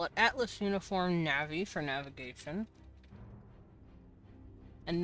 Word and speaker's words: Na'vi: I still think that I It's funny that the names are Nav'i for navigator. You pronounce it any other way, you're wrong. I was wrong for the first 10 years of my life because I pronounced it wrong like a silly boy. But to be fair, I didn't I didn't know how it was pronounced. I called her Na'vi for the longest time and it's like that's